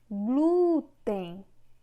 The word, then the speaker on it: glúten: Glúten. Na palavra glúten, o glu é que tem uma força maior. Nesse caso, é paroxítona.